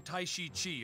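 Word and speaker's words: Taishi Ci: I am Tai Shi Chi of Dong Lai. That's actually proper pronunciation.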